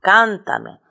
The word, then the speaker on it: Cántame: se convierte en esdrújula Cántame el mayor golpe de voz recae en la tercera en la antepenúltima sílaba lo mismo ocurre con